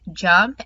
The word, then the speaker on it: JMP: do talk about jump jmp is pronounced jump and you will need